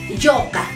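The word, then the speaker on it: yuqa: hijo en aimara es yoca aquí hay que tener bien en claro la la pronunciación no yoca no van a decir yoca no yoca luego de haber aclarado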